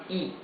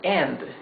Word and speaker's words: y: just by itself alone, Y is read E. Okay? Would be like a double E in English. So, for example, the word end, right? A-N-D, end in English, in Spanish is E.